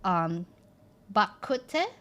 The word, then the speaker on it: Bak kut teh: Bak kut teh, but in Chinese it's rogu cha, and it's so good.